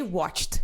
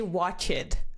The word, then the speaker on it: watched: of all you say watched you don't say watch it okay there is no extra syllable you did not pronounce